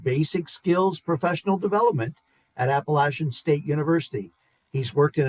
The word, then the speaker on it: Appalachian: So many people say Appalachian, which if you're a local, you would say Appalachian like a door latch.